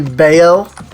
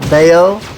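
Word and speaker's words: Badb: It's just like B-A-B-D-B or whatever is actually Bayo. Would never guess. In case you were wondering why, like earlier, the B-A-B-D-B-H or whatever, like I pronounced that Bayo, I actually looked that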